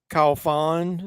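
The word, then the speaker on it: Franck Khalfoun: of another movies I like his name's Frank call Fawn is how you pronounce it he directed a movie called P2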